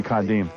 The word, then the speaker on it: Kadeem: It's supposed to be Kadeem.